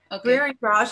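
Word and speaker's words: Bhringraj: Brierengrage, it's a very unusual name because it's Sanskrit, and I'll spell it out.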